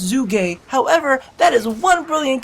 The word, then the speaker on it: Zhuge: a Chinese surname of its inventor and it's pronounced zoo game however that is one brilliant cover up for